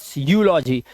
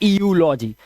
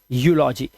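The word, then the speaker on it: eulogy: क्या है, Europe, and ईयू यहां पर भी है यूलॉजी, ना कि ईयूलॉजी, इट्स यूलॉजी, ठीक है, यूलॉजी।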